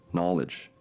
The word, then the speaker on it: knowledge: The word nosis with a silent G is a Greek noun meaning awareness from which we get the English word knowledge with a silent K.